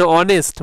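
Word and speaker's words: honest: এখানে অনেস্ট প্রথমে অ, অনেস্ট বাংলার স্বর অ, অনেস্ট অনেস্ট, তাহলে স্বরবর্ণের অ এর মতো উচ্চারণ হওয়ার কারণে অ্যান হলো।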